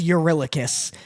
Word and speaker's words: Eurylochus: Again, his name is Eurylochus. And there's a clip of me going, oh, well, I'm an idiot. This makes it so much easier. It's Eurylochus.